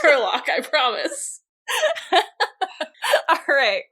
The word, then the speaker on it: Herlock Sholmes: it has been expressed to me that it's pronounced Hairlock Sholmes, and I'm like... Well, no, he misheard. It's fine. It is pronounced Herlock, I promise.